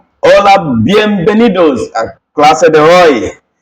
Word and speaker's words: hola: Remember, in our alphabet, whenever you see H in Spanish, is not pronounced. So this simply means it's pronounced as hola, which means hi, hello, hi, that's it.